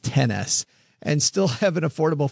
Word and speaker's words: XS: I think they want that pronounced 10S.